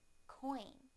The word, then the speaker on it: coin: Now the OI sound in the word coin, coin, coin.